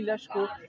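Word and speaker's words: Laško: Oui, on dit Lashko. Le S, ça se dit che, comme ça, en Slovénie.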